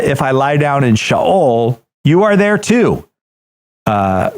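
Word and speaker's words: Sheol: you if you didn't it is not shol it's shaol good well thank you I learned uh if I lie down in shaol you are there too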